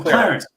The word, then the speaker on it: Qlarant: And how do you, it's QLA, how do you pronounce Qlarant. that? With Qlarant.